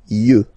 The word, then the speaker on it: yeux: Un œil, des yeux, okay? Don't pronounce the final X as usual.